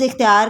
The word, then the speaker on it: اختیار: کے اختیار میں ہے، جملے میں لفظ اختیار کا درست تلفظ ہے، آپشن سی اختیار زیر سے۔ سوال نمبر 4 محاورے